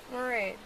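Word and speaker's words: Mairead: Maraid. How do you spell it?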